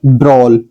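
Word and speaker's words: brawl: इसको पढ़ा जाएगा बी आर ए डब्ल्यू को ब्रोल। Soul ब्रोन drone. Prone. सो आपने जान लिया इसका उच्चारण इसकी प्रोनंसिएशन क्या निकलती है।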